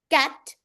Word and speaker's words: cat: Cat, Cat. cat. Hat. Lovely, very good. No throwing of air and no opening of your mouth. Right? It's shut.